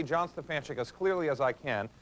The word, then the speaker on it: Stefanchik: the proper spelling s-t-e-f-a-n-c-h-i-k so whenever I say Stefan chick I don't always get it back the way